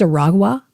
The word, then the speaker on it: Aragua: It's Aragua, so it's harder for me to pronounce.